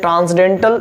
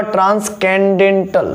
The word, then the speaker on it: transcendental: जैसे इसको लिखा हुआ ट्रांसकेंडेंटल, है ना, ट्रांसकेंडेंटल, है ना, लेकिन यहाँ पर CEN जो है कि साइलेंट रहता है।